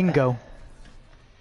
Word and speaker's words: Django: Django. Select your hero. Hello. Hello, How you Django. doing? Oh, The D is silent.